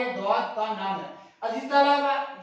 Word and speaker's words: ضاد: کے بعد عزیز طلبہ ہم ضاد کے حوالے سے جو اہم بات سیکھیں گے وہ ہے اس میں ہلکی سی واو کی آواز شامل ہے۔ ضاد میں عزیز طلبہ جیسے ہم واو پڑھتے ہیں واو، تو ضاد میں بھی ہلکی سی واو کی آواز شامل ہے، ضاد ضاد، اس طرح ہم تھوڑی